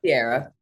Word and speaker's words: Ciara: And you pronounce it Sierra or Ciara? Sierra.